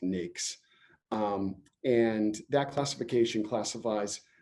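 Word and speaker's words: NAICS: use the anics classification it's pronounced NES um and that classification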